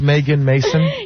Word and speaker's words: Megan Mason: Is it pronounced Megan Mason? Yes, It's a beautiful name and a beautiful Megan girl.